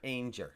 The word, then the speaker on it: Ainger: Ainger rhymes with danger.